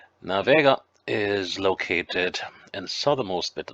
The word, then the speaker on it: Vega: to the commune of vega or viego as some of the locals say now vega is located in southernmost